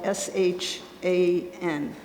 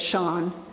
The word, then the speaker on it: Shahn: But when he was in school, his teacher asked him how to pronounce it, and he said Shahn, not Shan.